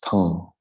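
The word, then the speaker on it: tam: channel is a mantra spelled t-a-m imagine a straight line across the a and a DOT underneath your M so it's the pronunciation is tongue the m is actually just a nasal sound imagine you're planting that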